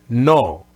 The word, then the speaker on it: no: And so have that in mind and just make sure you don't have any oo sound at the end, not no. No, that oo sound at the end, don't do it in Spanish. Just no.